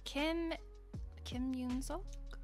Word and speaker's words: Kim Yun-seok: I forget how you pronounce the second part of this. Kim Yun-seok.